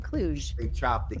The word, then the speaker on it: Klug: I always get your last name wrong. It's actually Klug.